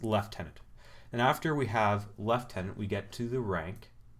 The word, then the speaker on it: lieutenant: officer so that's lieutenant and after we have left tenant we get to the rank of captain so